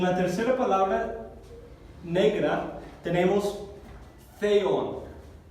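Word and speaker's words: θεόν: En la tercera palabra negra tenemos theon. Así se pronuncia como la Z española, como voy a conducir este sonido.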